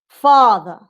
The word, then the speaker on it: father: are better quality okay so let's see this word father you have two syllables these are two syllables words father father strong syllable father almost not noticeable father father you have